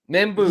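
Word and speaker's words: Membou: Membu, thank you.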